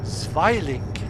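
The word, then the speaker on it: Zwilling: That was originally a glider pulled by a, I think it was pulled by a Heinkel HE-111Z, or Zweiling, I think is the more correct pronunciation.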